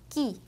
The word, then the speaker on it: qui: 근데 이때에는 이 모음 ü는 발음을 하지 않는다고 생각하시면 돼요. 그래서 바로 뒤에 이어 나오는 발음이랑 합쳐주시면 돼요.